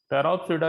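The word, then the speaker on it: Pteropsida: तो ये इसके कितने, इसमें पी ये पहला साइलेंट होगा, टायरोप्सिडा, टेरोप्सिडा, ये 4 इसके कितने हो गए ग्रुप्स है।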